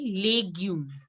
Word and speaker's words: légumes: No, anybody can correct this. It has to be legume. Because whenever the accent is this side, it has to be A. Legume. Légumes. Yes. Les légumes. Very good. Legume.